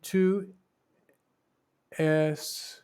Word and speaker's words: tu es: Tu es Marc. You see, they don't pronounce the S, at least not before M.